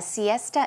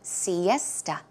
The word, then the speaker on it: siesta: pronunciation is Siesta esta so it's more of a t sound Siesta one more time Siesta